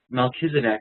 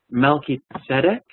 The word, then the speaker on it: Melchizedek: And by the way, Melchizedek, we often say it like that. It's actually a Hebrew word that is built off of two Hebrew words. Melchi and Tzedek.